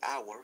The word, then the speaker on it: hour: Y hour, fíjense, acá hay una excepción. A pesar que hour se escribe con una consonante, suena como una vocal, ¿no? Entonces es un vowel sound, an hour.